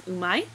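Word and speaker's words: 上手い: as an e adjective, it actually is pronounced as umai, which does not mean yummy, which is very confusing.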